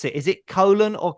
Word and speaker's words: Caolan: pronounce it is it colon or like what is what is it that's not bad if you think of the word you know kale the food k-a-l-e yes I am